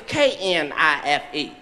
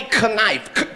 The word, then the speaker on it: knife: Yes, that would be knife, knife. This is what she told me in front of the whole class. She said the K, you niggas went to my school. She said the K is silent.